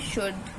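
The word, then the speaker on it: should: silent letter हम देखेंगे यदि एल के बाद डी एफ के या एम आ जाए तो एल साइलेंट होता है जैसे कि शुड वुड देखो शुड के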